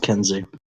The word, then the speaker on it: Keynesian: a social democracy right it's pronounced Kensi whatever oh my god